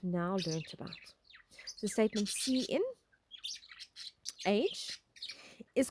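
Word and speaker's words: cin: like clcn is defined in a standard header file IO stream stands for console input and is pronounced as C in the console therefore does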